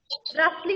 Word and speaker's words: rustling: Rustling, नहीं बेटा, T is silent.